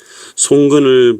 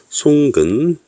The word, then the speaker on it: 송근: 송근, 여기 보면 나무 목이 들어있고 발음은 송입니다.